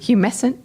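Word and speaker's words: humectant: Glycerine the liquid don't how do you pronounce it humant oh humant oh there's a tea in there glasses think think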